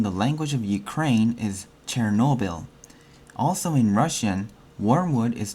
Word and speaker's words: Chernobyl: recall the historical event the word Chernobyl which Ukrainian pronounced as chernobil is the very word